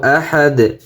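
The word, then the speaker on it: أَحَدٌ: দা দুই পেশ দুন, আহাদুন। কুল হুয়াল্লাহু আহাদ, অক্ফ করলে আহাদ। শেষে দুই পেশ আছে, দুই পেশের উচ্চারণ হবে না, আহাদ।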